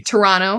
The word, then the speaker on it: Toronto: the tea in Toronto if you are in Toronto you don't pronounce the T Toronto yeah that's how they